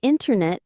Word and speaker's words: internet: The T after an N often disappears completely. Oh, this is a great tip for sounding really natural. So, internet becomes internet. The word international becomes international.